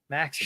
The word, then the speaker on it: Maxim: Maxim. Shabanov. Just like the magazine, spelled the same way.